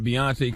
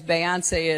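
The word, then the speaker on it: Beyoncé: She just had the accent in the wrong place. A president as Beyonce is a performer. And this is after saying how, you ever seen Beyonce live? Beyonce live? Beyonce puts on a great show live.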